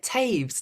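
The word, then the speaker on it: Toews: bigger menacing I also very recently discovered Miriam towels the novelist which who had not read before and she's fine oh Miriam Miriam saved she says how do you say it Taves Taves oh okay um and she was our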